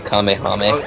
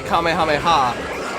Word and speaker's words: Kamehameha: And they said Kamehameh. Okay. They they say Kamehameha, but when when Gohan was teaching it to Goten, he misheard it.